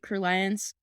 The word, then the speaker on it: Crulliance: is the founder of crew liance LLC did I say that right crew liance thank you for saying it right you did crew liance